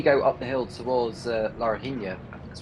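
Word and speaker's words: Laranjinha: I mean, when you go up the hill towards Larina, that's how it's pronounced, the uphill section before you go towards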